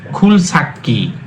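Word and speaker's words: 굴삭기: এখানে একটা গিয়ক আছে, দুটা গিয়ক মিলে হয়েছে সাংগিয়ক। সাংগিয়ক মানে হচ্ছে ক, আর যেহেতু সাংয়ের পূর্বে স্বরবর্ণ আছে সেই জন্য সাংটা দুইবার উচ্চারিত হয়, তাহলে এটা সঠিক উচ্চারণ হবে খুল সাক্কি মানে খনক যন্ত্র।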